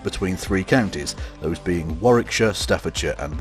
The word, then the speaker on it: Warwickshire: city was split between three counties those being Warwickshire Staffordshire and Worcestershire and yes for any Americans watching that is how you pronounce those place names anyways this three-way split